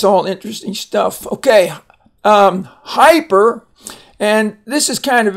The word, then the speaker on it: hyper: And so, but it has a long I sound in the words hype.